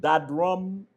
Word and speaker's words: Dadrum: Is it Dadrum data or Daydrum data? It's that drum data. Dadrum. Okay, Correct.